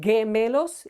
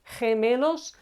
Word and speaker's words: gemelos: But sometimes letter G or G is pronounced as H or the English H. And it's the case when G is followed either by I or E. Okay, so we have gemelos, twins. It's not gemelos, it's gemelos.